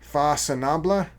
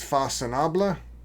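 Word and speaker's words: Façonnable: Fasinaba. It's French and it's pronounced Fasinaba.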